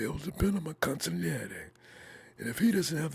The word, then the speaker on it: consigliere: He's like Kyle's consigliere. How do you pronounce that?